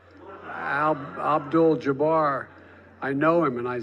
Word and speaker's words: Abdul-Jabbar: for each year for Muslim athletes like Kareem al-jabbar Abdul-Jabbar I know him and I said mispronounce his name okay in his defense that